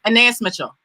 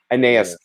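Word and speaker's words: Anaïs Mitchell: Can you again pronounce the wonderful, the writer of the show, her name? Oh, Anais Mitchell. Anais.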